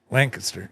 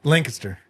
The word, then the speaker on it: Lancaster: Oh, Lancaster. Lancaster. Lancaster. Lan. Lancaster. L. Well, we just say Lancaster. Lancaster. Not Lancaster. Yeah. Yeah. Not the way it's spelled.